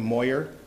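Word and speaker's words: Moir: Her first name is spelled S-Y-L-V-I-A, last name Moyer, M-O-I-R.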